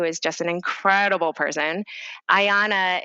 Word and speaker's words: Iana: Ayana is spelled IANA, and it stands for I am not alone.